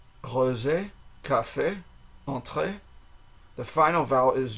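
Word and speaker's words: café: okay A a okay in French each vowel in the words Cafe and is pronounced with a single pure sound so Cafe Cafe the r is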